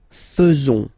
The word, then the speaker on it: faisons: So it's quite strange because French people tend to pronounce faisons. Okay? So like here, this AE is not pronounced like normally we should pronounce it like E, but then like E.